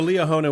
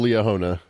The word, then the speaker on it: Liahona: And and listeners should Google Leona. It's spelled as it sounds.